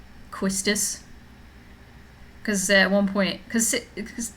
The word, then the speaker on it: Quistis: at one point and called Quistis Quizits, and I was like, Sari, it's Quistis. Like, I've always said Quizits, and I'm like, that's not how it's spelled.